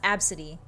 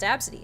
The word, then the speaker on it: ABCDE: But it was pronounced Absidy. And that made it sound less bad. It's an interesting name. When I was a kid, I was like, why? I looked at the way she spelled it. I'm like, why are you named ABCDE? And she's like, it's pronounced Absidy.